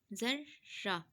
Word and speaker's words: ذرہ: ایک بتا دیتی ہوں، زال زبر رے، زر رے زبر را، ذرہ۔ اسی طرح کے سے